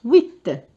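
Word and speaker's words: huit: دونك لو اش مع الوي، الاش هو حرف يخرج فقط كهواء، دونك ما ننطقوش وي، وكأني ابتديت الكلمة بالوي، وآخر حرف هو ت. ت. فوالا. دونك يعطيني 8.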